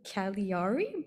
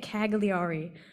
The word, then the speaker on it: Cagliari: whole time but I completely forgot how to pronounce it right but it's like Cal kaliari but I've been saying it cagliari but yeah that's where I'm going it's the